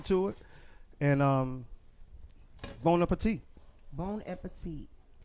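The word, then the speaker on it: bon appétit: bon appetit. Not bone and petite. I Bone. I Bon said, appetit. Say it like it's one word.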